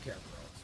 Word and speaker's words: Cerberus: Greeks pronounce the C as K, so it's actually it should be pronounced Kerberos.